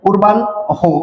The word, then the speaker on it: পূর্বাহ্ন: তারপরে কি হবে, পূর্বান হো। তাহলে নয়ের উচ্চারণ আগে হবে, হয়ের উচ্চারণ পরে হবে।